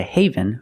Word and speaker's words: Haven: wildlife that's right the state park is a Haven for wildlife and we have this city New